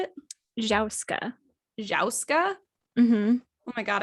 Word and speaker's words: jouska: So I believe it is pronounced Jouska. What? Jouska. So it's like joust, but with a K-A and then a J sound. So Jouska, Jauska.